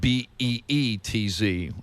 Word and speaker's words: Beetz: Yeah, we're trying to figure out whether it's Zazie Betts or Zazie Beetz. It's spelled B-E-E-T-Z. That's got to be Beetz.